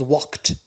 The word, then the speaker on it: walked: L is silent and the past becomes walked. Notice here D it is pronounced T. It is spelled D but pronounced T.